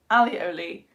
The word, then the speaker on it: alioli: In French, it's aioli with no L. In Spanish, it's alioli with one L.